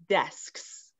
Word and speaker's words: desks: And then what makes it even trickier is we have this following S to make it plural, to make it more than one. And so it's sk, s. So it's sk, sk, sk, sk. So then you do desk, desks.